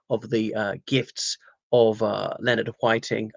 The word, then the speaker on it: Whiting: Zeffirelli decided to make the most of the gifts of Leonard Whiting. I think it's pronounced Whiting, not Whiting, and indeed Olivia Hussey,